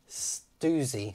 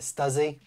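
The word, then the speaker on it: Stüssy: but we've got the stoozy top i think i was pronouncing it stuzzy i still want to call it stuzzy but apparently stoozy we got the top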